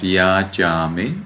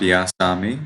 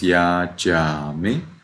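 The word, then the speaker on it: yācāmi: Be careful about yajami. It is not yasami. This is a Sri Lanka pronunciation. So it is yajami.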